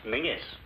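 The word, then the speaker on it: Menzies: a small one please menes what's the matter if all these Atlantic packs are to go through you Yanks will have to learn to speak The King's English and Men is just pronounced mingis why well don't ask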